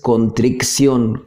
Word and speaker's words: contrición: Dicho sea de paso, no es contrición con doble C, que muchas veces se comete ese error al escribirlo y al pronunciarlo inclusive. Es una C, contrición, ¿sí?